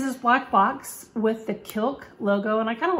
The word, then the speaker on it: Kilk: before called kilk and i'm imagining it's kilk like it rhymes with milk or silk but kilk and they are a